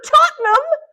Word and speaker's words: Tottenham: And she says, oh, Tottenham.